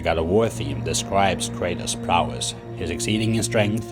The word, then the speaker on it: Kratos: Quick tangent, the proper Greek pronunciation of Kratos would be Kratos, but the choir always stays to the English pronunciation.